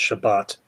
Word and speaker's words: Shabbat: Shabbat knight uh live actually that's pronounced Shabbat I know how it's pronounced I just don't pronounce it properly you dir you dirty